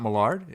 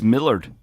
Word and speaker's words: Millard: too with Russ Millard is it not Mallard it's Millard no swear to God